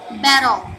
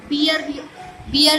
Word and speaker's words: bear: इसको बियर नहीं बोलेंगे, उसका प्रोनाउंसिएशन क्या है? प्रोनाउंसिएशन बैर है, BEAR, बैर। जैसे WEAR वेयर होता है। वेयर मतलब कपड़े पहनना, राइट। वेयर नहीं होता है, बैर होता है, बैर।